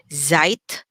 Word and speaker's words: Zeit: as a letter z the z now is pronounced like a t and a z together okay so so if i say instead of saying zeit okay i can say